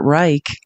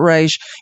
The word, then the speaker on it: Reich: we spent three months thinking his name was Robert Reich and thinking that was really awkward cuz he's Jewish and then we debated it for three more months and then realized, oh, it's not pronounced that way.